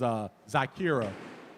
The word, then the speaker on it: Zyykirrah: The GM from the team, I believe it is Zyykirrah, is how you pronounce it.